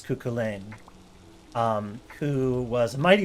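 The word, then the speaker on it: Cú Chulainn: figure in irish folklore named kukolin um pronounced usually as kukulen um who was a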